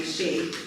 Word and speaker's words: Shaia: So, this is why I go by Shay.